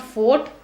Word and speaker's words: fought: Now don't mispronounce it as I fought with you. It's not fought, it's fought.